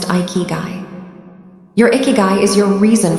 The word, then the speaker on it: ikigai: The most powerful and holistic score is the Japanese concept of ikiguai pronounced iikuy.